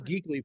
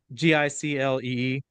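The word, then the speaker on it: giclée: It looks like it says Geekly Prince. Geeky. But Giclee.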